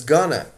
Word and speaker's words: going to: on the streets sometimes going to in spoken English is often pronounced as gonna and I'm gonna go